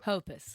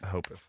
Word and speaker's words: Hoppus: Mark Hoppus is Hopus. Hoppus.